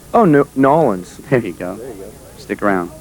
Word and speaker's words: New Orleans: you say where we at because i don't pronounce it right oh no nollens there you go stick around here in new